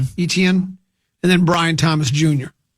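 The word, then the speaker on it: Etienne: ETN. ETN.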